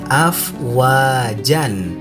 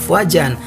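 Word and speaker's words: أفواجا: Nah, namun apabila kita berhenti atau kita wakof, maka tidak boleh dibaca afwajan, tetapi kita dibacanya afwaja.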